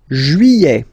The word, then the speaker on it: juillet: Juillet. Okay, you get this double L here. Y-y-y-y-y. Juillet. Juillet. Don't pronounce this final T, E-T here at the end.